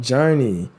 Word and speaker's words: JRNY: but it's so short it's called journey and it's literally juny and it's Jordan and juny put together Journey it's spelled jrny y it's a EP